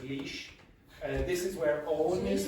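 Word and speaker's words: Laois: a o i s how do you think you pronounce that le le leash leash okay that's leash this is where ow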